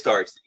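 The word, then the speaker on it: D'Arcy: Is that how you pronounce it? Is Darcy.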